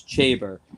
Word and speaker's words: Chaber: It's like chamber without the M, so it's Chaber.